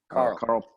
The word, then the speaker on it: Karel: How do you pronounce it? Correct. Karel.